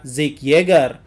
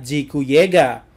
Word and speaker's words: Zeke Yeager: Dan sedikit pembelaan juga bahwa dalam bahasa Inggris, nama Zeke itu dibaca Zeke Yeager. Tapi dalam bahasa Jepang itu dibaca Jiku Yega.